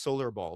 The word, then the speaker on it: Solar X Ball: It's pronounced Solar Ball, but it's Solar X Ball.